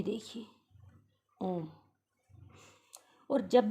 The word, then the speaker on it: ओम: का उच्चारण करते हैं, उस ओम के उच्चारण को आप इसी चिन्ह के कारण इतना लंबा खींचकर उसका उच्चारण करते हैं, जैसे आप लोग करते हैं। करके देखिए मेरे साथ, ओम। अगर हम सिर्फ ओ को बोलते तो बोले ओ, अगर हम औ बोले तो औ।